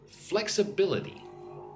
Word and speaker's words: flexibility: Listen and repeat after me. Flex-a-bil-i-ty. So 5 syllables. Flexibility. Putting emphasis on flex and bill.